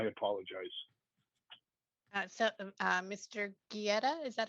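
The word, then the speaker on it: Guite: getty okay okay mr geddy um it's spelled g it's spelled g-u-i-t-e but it's pronounced like gettysburg yes because i i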